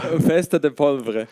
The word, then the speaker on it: Festa da Pólvora: How do you pronounce the? It's in the bottom middle. Festa da Pólvora. Festa da Pólvora.